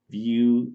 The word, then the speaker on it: Vue: then recently I start hearing about beauty is pronounced well spelled View vu e so it seems pretty people let's